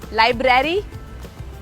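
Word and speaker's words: library: आर ए आर वाई लाइब्रेरी लाइब्रेरी लाइब्रेरी बहुत अपने मुंह को कम खोलना है सारे लेटर्स का जो साउंड है वो क्लियर होना चाहिए बट लाइब्रेरी नहीं है।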